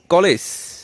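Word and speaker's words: college: বলে বলবো education education আমরা বলি কলেজ নট কলেজ এখন থেকে আমরা কি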